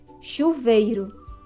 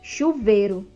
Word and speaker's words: chuveiro: a vogal i outra chuveiro muitas vezes nós pronunciamos a palavra chuveiro no entanto a forma correta de pronúncia é chuveiro então tem a vogal e aí não é chuveiro chuveiro outra a tesoura muitas